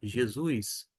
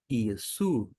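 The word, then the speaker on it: Ἰησοῦ: A gente não fala no grego Jesus, e sim Iesu. Iesu, Jesus.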